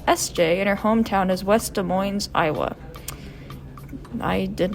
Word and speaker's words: West Des Moines: by the nickname sj and her hometown is west des moines iowa i did not know that's how you pronounce west des moines um she won a